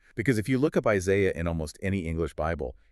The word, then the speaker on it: Isaiah: It is spelled I S A I A H. There is an H at the end of the word. That English H is a phantom letter.